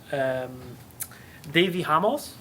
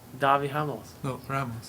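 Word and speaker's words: Davi Ramos: good islam makhachev and dhabi ramos okay so it's pronounced because I watched a bunch of his fights today it's pronounced Davi Hamels and Davi Davi yeah Dawg your elbows Davi Hamels alright actually it's like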